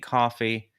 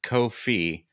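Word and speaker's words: Ko-fi: about Co Kofi it's it's supposed to rhyme with no fee but because they have a cup of coffee on their logo people think coffee but it's kof fee I don't agree with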